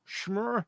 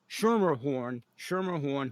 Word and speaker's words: Schermerhorn: because it's actually about Lisa Schmerhorn, and I'm still mispronouncing her name, Schermerhorn, who's going to be my next guest, and she might be listening in.